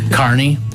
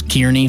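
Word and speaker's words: Kearney: So I'm from Illinois originally and the way you guys pronounce some of your cities like Carney I thought was Kierney for I don't know how long. So I lived there for like 6 months and you always knew that it was somebody not from there. if they called you Kierney and Beatatric.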